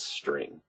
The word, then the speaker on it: str: Here, the str is short for string. So I'm just going to pronounce it as string.